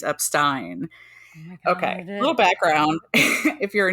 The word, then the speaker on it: Epstein: remember the proper pronunciation if you do a little song Association in this case Turn The Beatles I'm Me Mine into my my name's up Stein okay little background if